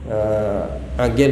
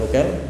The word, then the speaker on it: Aqil: Aqil ya, bukan Uqail.